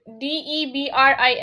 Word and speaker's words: debris: DEBRIS. Etc. Yeah, good. How do you pronounce the second one? Debris. Okay. Well, Debris. the S is silent and we say debris.